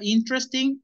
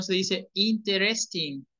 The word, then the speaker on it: interesting: En esta interesting, esta E de aquí es como muda. ¿Ok? Entonces no se dice interesting, interesting. No, es interest, tres. Porque nos comemos una E, entonces nos queda tres.